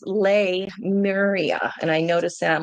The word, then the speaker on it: Lemuria: I always thought it was Lou Maria, but it's Lemuria.